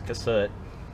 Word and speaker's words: Cassutt: see and uh for you guys building the cassette or cassette i i keep doing that you know it's um it's been been asked how you pronounce it is c-a-s-s-u-t-t it's cassette and it's a 111m and that i think